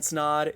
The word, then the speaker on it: Snod: my name is snod it rhymes with odd and welcome to another